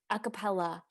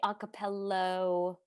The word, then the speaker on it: a cappella: That's how you Acapella. pronounce a cappella. Acapella. Sometimes I say a cappello, like something about saying